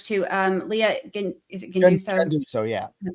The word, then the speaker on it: Genduso: Genduso, yeah.